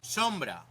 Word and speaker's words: sombra: Sombra. The O is pronounced like O, and the B between vowels softened to almost a B sound.